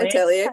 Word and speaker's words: Atelier: I just pronounced that right? Witch Hat Atelier.